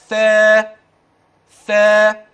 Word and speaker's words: ثا: اللي بعديه ها ثا وما تنساش طرف اللسان اثناء النطق ثا ثا اوعى تدخل طرف اللسان لا يتحول الى حرف اخر لا ركز في السماع